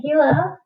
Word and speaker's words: Gila: Gila, pronounced Gila, is the largest lizard native to the United States.